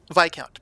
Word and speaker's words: Viscount: Viscount, by the way. The S is silent. It's a French word. Although Oh, sorry. even in French, it's spelled differently.